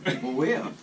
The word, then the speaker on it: Mweia: But it's spelled like Maria. No. Yes. Moya.